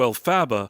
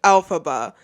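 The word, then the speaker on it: Elphaba: We then flash back in time to a couple giving birth to Al Faba. He pronounces Alphaba's name like this throughout the whole video.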